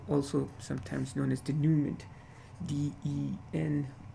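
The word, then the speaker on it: denouement: of the story also sometimes known as the dumant the and o ue m e and T the Newman that's how it's pronounced a fancy term for a resolution so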